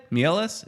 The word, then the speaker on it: Mieles: Mieles is, did I say it right, Ed? Mieles? Is that the Ecuadorian way of saying it? Yeah, you got it right.